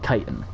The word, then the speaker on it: chitin: my biology teacher pronounced professor i should say pronounced it chitin but i've always read it as [ __